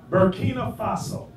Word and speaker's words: Burkina Faso: He was the head of Burkina Faso. If I'm saying it wrong, you'll correct me. What is it? Burkina Faso.